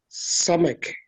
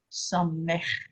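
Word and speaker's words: סמך: Samek, Samech. Samek. Yeah. Not a K, but do a samech.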